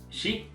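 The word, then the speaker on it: 四: generally in Japanese culture for it's pronounced she and uh you it's different interpretations it represents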